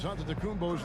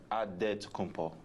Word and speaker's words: Antetokounmpo: the spelling of Giannis Antetokounmpo's last name. He helped set the record straight of how you pronounce it. The Nigerian way, you gotta say with a D, so it's Antetokounmpo.